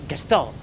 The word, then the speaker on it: Gestalt: You gotta say Gestalt. Gestalt. Oh, you just gotta say it with an accent.